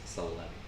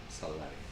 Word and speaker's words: Sallari: it's got the it's got the Catalan double L, Uh-huh. which is a very specific thing, and I kind of spell it a little bit differently. But yeah, Sallari.